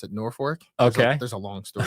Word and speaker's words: Norfolk: Uh it's it looks like Norfolk, but they pronounce it Norfor.